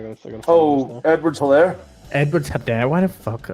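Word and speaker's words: Edwards-Helaire: Edwards Hilaire.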